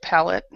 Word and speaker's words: palate: So it's uh, and it's pronounced like this. It's cleft palate, Palate, instead of what I said.